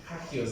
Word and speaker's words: hagios: Hagios, diga conmigo, hagios. Se escucha como gajos o algo así, ¿no? Hagios. Y eso es santo en griego. Hagios. A ver, digan Kadash. Kadash. Hagios.